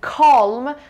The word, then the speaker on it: calm: بچه یادتون یه مدت مود شده بود keep calm and مثلا فلان، و دقت کنین calm هم calm میتونه تلفظ بشه هم calm، جفتش هم درسته.